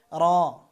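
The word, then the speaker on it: ر: র। র উচ্চারণ করবেন জিহ্বার আগা ও তারপরে পুরো তালুর সাথে লাগাতে হবে, অর্থাৎ এই যে দাঁত, এই দাঁত সংলগ্ন এই তালুর সাথে। র। র একবার কম্পন হবে।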